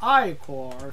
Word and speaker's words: ichor: fill it with magical I core that's pronounced I core for those in this